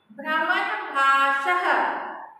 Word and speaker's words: भ्रमणभाषः: भ्रमणभाष और विसर्ग लिखा हुआ है, विसर्ग को उच्चारण करते हैं ह की तरह, बोलते हैं टू डॉट को विसर्ग।